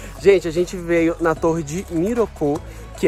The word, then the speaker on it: Miroku: Corrigindo a minha forma de pronunciar, é Miroku.